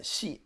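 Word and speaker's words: 系: So it's pronounced xi, and it means relationship.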